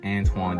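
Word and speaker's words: Antawn: born in shreveport louisiana his parents named him antoine a-n-t-w-a-n but the hospital misspelled it anton a-n-t-a-w-n on his birth certificate the error was never corrected but the pronunciation is antoine did not change jameson played basketball and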